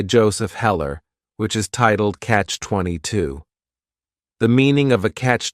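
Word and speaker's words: Catch-22: favorites is Catch 22 this is two words it's a compound noun the word catch is just one syllable and then 22 is three syllables and the stress is on that final syllable Catch 22 the word comes from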